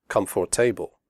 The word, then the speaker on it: comfortable: we say debt comfortable the word comfortable has three syllables not for the o.r is silent we say comfortable not comfortable comfortable clothes the final sound